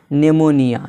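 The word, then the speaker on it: pneumonia: जैसे यहाँ पर है नेमोनिया, पेनोमीनिया नहीं पढ़ा जाएगा बल्कि क्या पढ़ा जाएगा, नेमोनिया। यानी यहाँ पर पी साइलेंट है।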